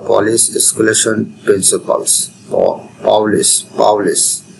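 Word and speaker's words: Pauli: এরপরে পলিস বর্জন নীতি বা পলিস স্কুলেশন প্রিন্সিপালস পাউলিস পাউলিস উচ্চারণটা যেভাবে জেনিতে পারে পাউলের বর্জননীতি পাউলি পাউলিস এক্সপলেশন প্রিন্সিপাল আমরা কষেত্রে পলির বর্জনীতি বলি আসলে পলি হবে না পাওলি হবে বা পলিস হবে বুঝতে পারলেই হবে এক্ষেত্রে একই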